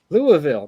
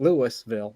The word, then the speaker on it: Louisville: What- Just like Go it's Louisville, not Louisville. It's Louisville. Oh yeah, I know it's Louisville. So you need to know your proper pronunciations around the country.